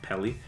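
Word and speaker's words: Peli: So the director, Oren, I think his last name is pronounced Pelly, chose to shoot the video with a home camera.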